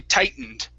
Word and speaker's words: tightened: like this tightened okay we don't actually pronounce the T we say tightened tightened so let's uh